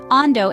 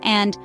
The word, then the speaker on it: and: We started by identifying some typical errors, like salada instead of salad, ando instead of and, momento instead of moment, sai instead of thigh, and rimen instead of lemon.